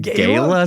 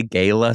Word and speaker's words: gala: Some people say gala. A gala. A gala, sure. What did you call it the first one? A gala? Gala. Gala. A gala is how you say it in Italian.